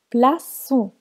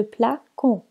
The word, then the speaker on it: plaçons: devient avec le nous plaçons on a ajouté il s'est dit à la lettre c qui se trouve entre deux voyelles pour la prononcer plaçons au lieu de placo pour les verts se